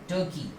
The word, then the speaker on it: Turkey: Okay, इसका सही pronunciation क्या होगा? टर्की। इस कंट्री का सही प्रोनाउंसिएशन होगा टर्की। अब फिर से हम यहाँ देखते हैं कि इसको कैसे गलत प्रोनाउंस करते हैं लोग। अक्सर आप लोग भी गलत प्रोनाउंस करते हो। क्या प्रोनाउंस करते हो आप? टर्की, टर्की, जो कि पूरे तरीके से गलत है। ओके, कई बार तो कई लोग इसको तुर्की बोल देते हैं।